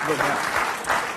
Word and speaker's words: Vivek: Yeah, maybe no, it is Vivek, because I heard him do a rap and he said it rhymes with cake.